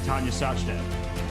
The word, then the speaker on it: Tania Sachdev: eric rosen against a queen of indian chess tanya sachdev you said it right robert welcome everyone i